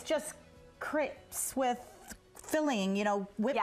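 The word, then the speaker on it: crêpes: I like how you say it. Crepes? Crepes. Am I just a total Utah girl? Crepes? That works too. I will say crepes for the rest of the show. Don't. Say it in a fancy way. No, it's okay. It feels more legit. It's just how they pronounce it in France.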